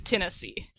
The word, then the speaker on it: Tennessee: I don't have that merger except in the name of the state that's south of Kentucky. Because it's Kentucky, but it's Tennessee.